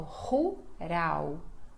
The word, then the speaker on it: rural: L, final de palavra, som de U. Então, rural, rural, rural, rural.